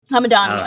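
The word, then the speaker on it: Hamedani: It was directed and co-written by American-Iranian Kevin Hamadi. I really hope I'm saying his name right. The horror comedy Hamadani.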